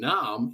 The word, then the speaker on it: Naarm: In Oz at the moment, in Melbourne, or in Naarm, if you like, First Nations pronunciation, Melbourne, Naarm.